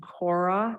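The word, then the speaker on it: khora: it's actually uh called by the Tibetan name Cora and that's spelled k as in Kathy okay okay then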